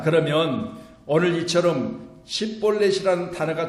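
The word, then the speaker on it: שִׁבֹּלֶת: 그에게 이르기를 십볼렛이라 발음하라 하여 에브라임 사람이 그렇게 바로 말하지 못하고 치볼렛이라 발음하면 길라 사람이 곧 그를 잡아서 요단강 나루에서 죽였더라.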